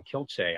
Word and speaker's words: Kielce: One of the most notorious, a place, again, my Polish pronunciation, Kielce, I think is how they pronounce it in Poland.